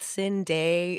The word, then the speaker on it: Cinde: some people are like, is it Cinde? Is it like how do you pronounce it with the two dots, whatever? I'm like, no, it's pronounced like Cindy, like regular, because my real name is spelled with a Y.